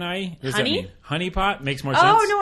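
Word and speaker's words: HuniePop: of the game go so honeypop but it's spelled hu n i e I would okay I guess it's like hey honey okay so the general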